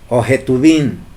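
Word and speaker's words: Ketuvim: la J es de los que tu vin ojetuvin que es como se debería de pronunciar no Además de este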